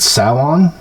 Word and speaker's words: Samhain: So originally it was a Celtic holiday called Samhain. I think that's how you pronounce it. And I don't know. Celtic is weird with with the way they pronounce consonants. It's because of Sanhein, but it's pronounced Samhain.